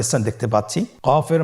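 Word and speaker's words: قاف: আবার বলুন কফ কফের মাখরাজ স্ক্রিনে লক্ষ্য করুন এখানে আমরা মাখরাজের বা উচ্চারণের স্থান দেখতে পাচ্ছি কফের মাখরাজ হলো জিহ্বার গোড়া তার বরাবর উপরে তালুর সঙ্গে লাগিয়ে উচ্চারিত হয় জিহ্বার গোড়া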